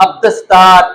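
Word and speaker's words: عبد الستار: अब अल्फ और लाम को आपने साइलेंट करना है तो अब्दुस्तार, अब्दुल राफे, अब्दुल रहमान और अब्दुल सलाम वगैरह आएगा।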